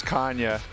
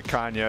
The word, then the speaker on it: Canha: They know how to say it, but I'm like third generation American, so we've been saying Canha for the longest time, so it would feel a little bit like pretentious to go by Canha at this point.